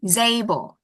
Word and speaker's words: disabled: Disabled is the first. No, it's the second. The second. Disabled.